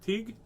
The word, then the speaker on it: Teague: will read pigs diets by mark teague which rhymes with league and uh that's under